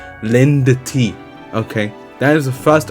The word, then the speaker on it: Lindt: That's how you pronounce it. Lindt.